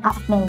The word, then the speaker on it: AFNEI: Lalu dengan itu meminta kepada pihak Indonesia untuk menyerahkan seluruh persenjataannya dan menghentikan pada tentara AFNI. AFNEI. Kita bacanya AFNI gitu ya.